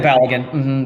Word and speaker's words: Balogun: He was and how do you pronounce his name? Is it Balogun? Yeah, Balogun.